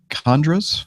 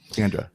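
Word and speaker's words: Kandra: my brain going on there from Deacon Greg Condras. Is that how you pronounce his name? Condra? Kendra.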